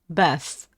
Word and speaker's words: bath: Bath. TH. Bath. This pronunciation is difficult.